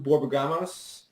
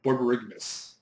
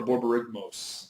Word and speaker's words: Borborygmos: I've always said it wrong. I know I have because I've always added an A right after the G.